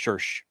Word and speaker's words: Circe: Her name was Circe, and pronounced just like church.